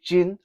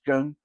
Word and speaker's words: gēng: Some people say jin. Okay, you will hear people say how many jin, but the proper pronunciation is gēng.